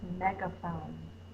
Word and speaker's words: megaphone: Meg is the short E sound, so we know the duck is here because that's a closed syllable. That's the schwa sound. It's spelled with an A in this word.